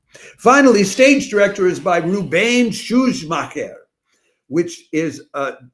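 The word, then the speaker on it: Rubén Szuchmacher: Finally, stage director is by Rubain Shuj Maher, which is uh that's such an Argentine name because the first part is is uh is Spanish, Rubain, and the second part is very German, Shu Maher.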